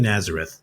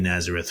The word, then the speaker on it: Nazareth: We've been under the impression it's Kika Nazareth for years at this point. And then just in this tournament, everybody started calling her Kika Nazare.